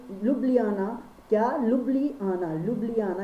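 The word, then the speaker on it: Ljubljana: तो स्लोवेनिया की कैपिटल है लुब्लियाना। क्या? लुब्लियाना, लुब्लियाना। यहाँ पर स्पेलिंग, यहाँ पे जे जो है वो साइलेंट है इसलिए इसका नाम है लुब्लियाना।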